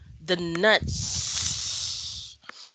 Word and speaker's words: nuts: you pronounce a word if that's s i want to hear the s sound the nuts okay it's pluto